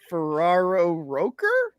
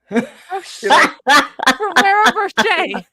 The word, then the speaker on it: Ferrero Rocher: Ferraro Rocher? Ferrero Rocher. Is that what it is?